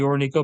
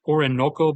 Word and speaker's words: Orinoco: to get from the Orinoco Belt. Or, sorry, Orinoco Belt, actually. I've been saying it wrong.